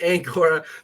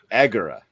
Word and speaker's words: Agora: I'm sorry, Angora. That's how I've been reading your name this whole time. He pronounces it Agora, right?